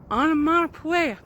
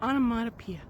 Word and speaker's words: onomatopoeia: these words are called onomatopoeia or onomatopoeia you can pronounce it either way but they are words